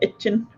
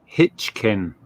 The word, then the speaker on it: Hitchin: itch Susan Nicks from itching don't ask about itching just move on trust me it's pronounced Hitchin you should get it right yeah hitk oh gosh